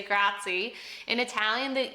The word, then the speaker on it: grazie: Grazie. Make sure we say grazie, by the way. A lot of Americans will say grazie.